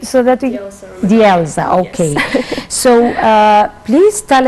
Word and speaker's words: Delza: Can you pronounce your name so that we... Delza, okay.